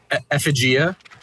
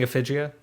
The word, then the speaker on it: Effigia: effigia that'd be cool effigia yeah yeah what's the problem is that how it's said I think so I think so yeah because it's named after an effigy that's so disappointing have